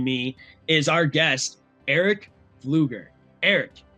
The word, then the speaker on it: Pflueger: and today joining me is our guest Eric Fluger.